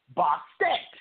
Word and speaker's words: Bastet: It is also spelled and pronounced Bastet.